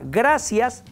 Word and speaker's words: gratia: fíjate como la palabra Gracias tiene varios significados viene de latín gratia se escribe gratia se pronuncia gracia no y ya vimos